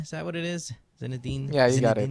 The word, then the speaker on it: Zinedine: How do you pronounce his first name? Is it Ange Zinedine? Is that what it is? Zinedine? Yeah, you got it. Zinedine?